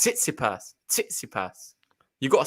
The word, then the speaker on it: Tsitsipas: the first one oh okay it's titsy purse titsy pass you gotta say the t well not the